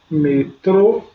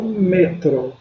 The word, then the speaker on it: metro: tônica nos espanhol tá exemplo essa alguma palavra metrô em português eu falo metrô tem espanhol só um metro metro então metrô o seu